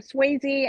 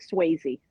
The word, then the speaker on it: Sweazey: My name's Sweazey, and it looks funny the way it's spelled, but it's like Patrick Swayze.